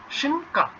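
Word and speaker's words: szynka: তাহলে এটার উচ্চারণটা কি, শিনকা, শিনকা, তাহলে আপনি শিনকা খেতে চান না, অবশ্যই বলতে হবে যে শিনকা, নিয়ে শিনকা।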